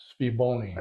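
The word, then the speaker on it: SVBONY: This is a SV Boni. Mm-hmm. I think it's actually pronounced Sviboni.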